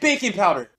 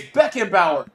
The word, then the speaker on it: Beckenbauer: why do you say stop saying baking powder can you just say the name right bro why you keep saying baking powder bro you dropped me crazy i can't spell it it's beckenbauer what do you mean